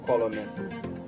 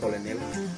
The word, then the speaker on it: colonel: On a tendance à prononcer parfois même en anglais colonel. Non, ça détruit un peu notre niveau d'anglais quand on prononce colonel. En français, colonel. Alors, voici la meilleure façon de prononcer le mot colonel en anglais. Au lieu de dire colonel, dites plutôt colonel, ok?